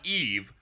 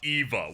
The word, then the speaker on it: EVA: It's It's true that it's not it's not Eve, but she pronounces Ava Eva, which feels like you're just you're just being mean game.